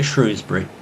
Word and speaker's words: Shrewsbury: Shrewsbury, sometimes pronounced Shrewsbury, is an early medieval town situated in the Marches, the borderland between England and Wales.